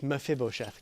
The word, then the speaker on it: Mephibosheth: mephibosheth and David that's how you say it mephibosheth God that time and then go into your